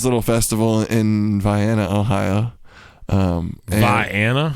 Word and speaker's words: Vienna: Vienna? Vienna. It's spelled like Vienna, but it's Vienna.